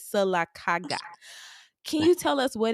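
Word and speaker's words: Sylacauga: town in Alabama called silaga um don't mispronounce our our stuff all right it's silaga can you tell us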